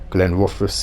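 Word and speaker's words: Glenrothes: Glenn Roes with Fon Glenn Rus is the correct way to say it but I I can't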